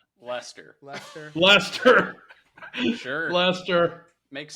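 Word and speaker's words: Leicester: s t r t e r all right pronounce that word please lter WR leer leester Lester Lester Lester sure Lester makes sense Lester Lester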